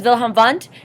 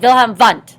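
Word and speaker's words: Wilhelm Wundt: physical thing this is vham vont he is the father of psychology right he is German So when you say his name you have to say it vham vont right that's who he is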